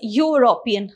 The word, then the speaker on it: European: uh see it is european okay so you pronounce it as u isn't it so this is not a vowel sound it's a consonant sound okay so whenever you